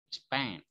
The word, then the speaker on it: Japan: Kalau yang ini yang ditekan Japan. Suku kata kedua Japan.